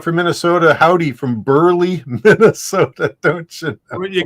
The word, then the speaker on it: Minnesota: no they they they they actually pronounced the T like a t min oh and I'm